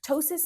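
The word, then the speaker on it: ptosis: It's spelled with a silent P at the beginning. Kind of like pneumonia and pterodactyl, right? Tossis means drooping of the eyelids.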